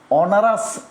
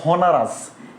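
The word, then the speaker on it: honours: আচ্ছা, এরপর দেখেন হি ইজ ড্যাশ অনারাস গ্রাজুয়েট, অনারাস হনারাস, এইচের উচ্চারণটা হয় না, তার মানে কি আসবে?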